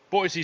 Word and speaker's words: Boise: Boise State. They have no idea we're saying this. Boise State. Apparently, it's pronounced Boise.